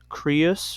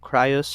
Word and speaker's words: Crius: actually marries a Titan, Crius or Crius, however you want to pronounce it, who's a son of Gaea and Uranus.